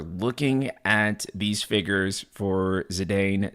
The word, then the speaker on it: Zidane: at these figures for zidane zidon however you guys want to pronounce it I believe the official pronunciation is zadon though by the way